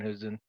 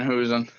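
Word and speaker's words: Hausen: a problem with Dan hosen or is is that how you pronounce his name Dan H I don't know maybe I'm butchering his name you are it's Dan hosen that's funny how about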